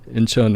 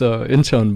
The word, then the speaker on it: Incheon: It's I say it's Incheon, but like Incheon. of course I think like the native Koreans, they will pronounce it just a little bit different.